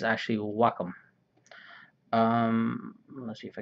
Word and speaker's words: Wacom: a wacom cintiq now a lot of people pronounce it as wacom but it's actually wacom um let's see if i can do this